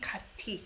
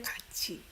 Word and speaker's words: 같이: You don't pronounce it 같이. You say 같이.